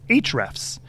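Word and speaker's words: Ahrefs: of the one of our favorite ones is HR F's and it's spelled kind of weird it's a the letter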